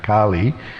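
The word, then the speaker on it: Kālī: said well no there first of all it's Kali the goddess is with a long way Kali and the personality is Kali of the short a so they're pronounced differently but they're also different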